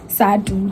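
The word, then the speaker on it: SADTU: Today, the Sadu people, Sadu, that's how I pronounce it. That's how it's pronounced.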